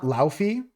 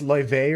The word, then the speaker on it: Laufey: I always struggle with their pronunciation of their name because it's Icelandic. It's not Laufey. It's Loive or something like that.